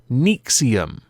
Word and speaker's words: NXIVM: that would indicate it is but it is pronounced nexium which to me is quite interesting because i